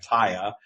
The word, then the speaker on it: TYA: TYA stands for Trust Your Abundance, and we pronounce it Taya, and it's now a thing.